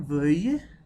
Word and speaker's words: veuille: Vouloir, que je veuille, hein, la prononciation veuille, vous pouvez répéter, que tu veuilles, qu'il veuille, que nous voulions, que vous vouliez, qu'il veuille.